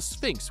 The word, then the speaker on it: sphinx: the bad guys are referring to themselves as a sphinx with a P, and not an F sound, which means that they are pronouncing it in the Greek way.